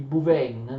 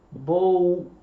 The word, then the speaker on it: Bouvines: Grazie a tutta una serie di sistemi, ma anche grazie alla importantissima battaglia di Bouvines nelle Fiandre, Bouvines, ora c'è qualche esperto che mi dice si scrive Bouvines, qualche esperto mi dice che si pronuncia Bouvines, d'accordo?